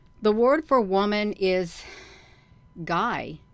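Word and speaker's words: Gy: singular with man the word for woman is Guy g y pronounced hard as in gu y so the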